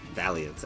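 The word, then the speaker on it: Iron Valiant: Uh, nothing too remarkable about the team besides the uh choice mixed iron bail or Valiant as I've learned. That's the proper pronunciation of it.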